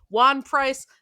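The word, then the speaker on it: Ejuan Price: had a defensive end Juan Price the E at the beginning is silent who wore his shorts rolled up over his knees.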